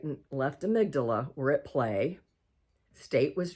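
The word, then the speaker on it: amygdala: and you've got a right and a left amydala and they play a real key role and amydala is spelled am y g d a l a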